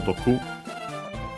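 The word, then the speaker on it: 毒: Accent on the last syllable, Doku.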